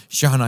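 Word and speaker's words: Chejne: scholar It Is by Anwar shahna Anwar shahana shahana his name is spelled his surname is spelled with c h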